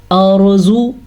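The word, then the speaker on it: الأرض: اس حساب سے یہ را ساکن سے پہلے زبر ہے تو یہ را پر پڑھی جائے گی. کیسے؟ ارزو.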